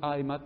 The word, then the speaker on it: AMAP: c'est bien un acronyme c'est pas juste un sigle parce que je peux le prononcer je dis pas une AMAP qui est une âme